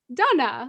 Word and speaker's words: Dana: No, it's not Dana. It's Dana. Oh, okay. And then when I moved to Europe, so first I moved to Prague in the Czech Republic, I thought that people would pronounce my name Dana, like correctly. Mm-hmm.